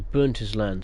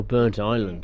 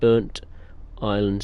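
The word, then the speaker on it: Burntisland: leave the train jeez really really cocked up that uh name pronunciation apologies burnt Island okay I wish they separated the uh the one word into two much easier to pronounce then there we go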